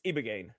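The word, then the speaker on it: ibogaine: It's It's ibo o g a i n e. It's ibagane.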